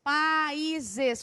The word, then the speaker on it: países: Se eu pegar a palavra países, países, como é que eu separo? Países. E sozinho leva acentos e para ser hiato, tem que pronunciar de forma forte, tá? Não é países.